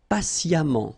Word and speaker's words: patiemment: Patient, and then patiemment. So as I told you, even if you write it EMMENT, phonetically it goes like amant, patiemment.